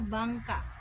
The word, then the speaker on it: bangka: Well, I believe that's called a bangka.